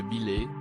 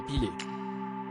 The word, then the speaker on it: Bilé: Un jour, il souhaite parler de Bilé, un gardien de but du club Vasco de Gama, mais se trompe dans la prononciation de son prénom en disant Pilé.